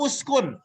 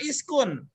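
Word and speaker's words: اسكن: Uskun atau uskun? Uskun. Ya, ini bacanya apa? Uskun. Uskun. Kenapa uskun? Kenapa bukan iskun? Doma. Karena dhamma huruf ketiganya, maka jadi uskun.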